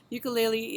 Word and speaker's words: ukulele: Ukulele is actually pronounced ukulele.